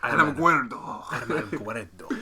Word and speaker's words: Alamogordo: Alamogordo? Gotta- Wait, I gotta say it when I say it. Alamogordo.